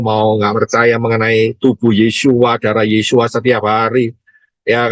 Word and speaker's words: Yesua: keselamatan yang benar yaitu yesuain yesua bacanya yesua bukan Yesus ya yesua Ya masuklah